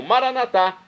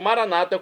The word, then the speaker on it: Maranata: dos católicos e agora eu clamo maranat como dizemos nós católicos ou Maranata como dizem nossos irmãos separados os evangélicos ou protestantes não importa a pronúncia o significado é o mesmo vinde Senhor Jesus um